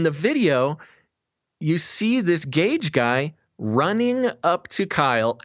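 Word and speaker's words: Gaige: to pronounce his name it's spelled g-a-i-g-e so gage maybe you should probably uh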